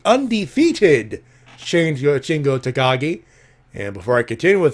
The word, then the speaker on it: Takagi: change your chin go Takagi and before I continue with that hey Ali mr. Ali Davis of Russell talked its Shingo takagi not talk a guy not talk a guy it's Takagi even I got that